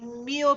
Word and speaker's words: mio: Le tue vaghe sembianze, amore me dipinge, il mio pensier si finge. Now here we're turning mio into more than one syllable just because it works out that way.